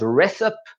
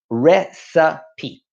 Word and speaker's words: recipe: The first one is the word recipe. And commonly this is mispronounced as recipe or recipe. To make things easy for you, I have spelt it out phonetically here, recipe.